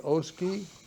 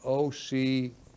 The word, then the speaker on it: Ocoee: While investigating the shooting, Palm Bay detectives were contacted by the Oskee, now I'm pronouncing that wrong, Ocoee, Oksee Police Department, it's in Florida, who said the suspect was being treated at a local hospital.